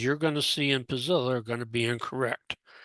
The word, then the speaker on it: Puzzilla: And so that's what Pazilla is. Notice how it's spelled.